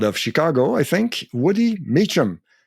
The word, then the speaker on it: Meachum: your name and I apologize that's fine it's pronounced meum so it's like uh meum yeah the the origin of the name is